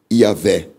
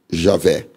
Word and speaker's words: Iavé: Estudos acadêmicos confirmam o que a maioria dos expositores do Antigo Testamento vinham ensinando, que a pronúncia antiga do nome é Iavé, e na forma aportuguesada é Iavé ou Javé.